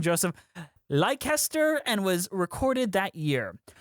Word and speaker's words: Leicester: It's pronounced Leicester. Why are there so many consonants in there? I have no idea. Fair enough. Lester.